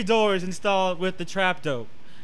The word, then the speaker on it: trap doe: That's how you say it is, the trap dope. It ain't D-O-O-R, yeah. It's D-O-R. Just trap D-O, dope.